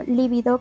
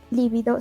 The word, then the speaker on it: libido: y escribimos mal como libido con tilde en vez de libido sin tilde que es lo correcto tiempos verbales incorrectos como